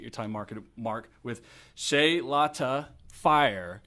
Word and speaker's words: Chloeta: time market mark with Shay lotta fire I was gonna I always I say it wrong that's okay she later is pretty close yeah very real good